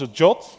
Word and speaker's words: JWT: Some people call this a jot. I don't know how you make from JWT ajot but that's how a lot of people uh tend to pronounce it as well.